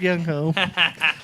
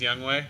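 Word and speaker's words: Younghoe: stud oh you took youngho it's actually pronounced young way but but you know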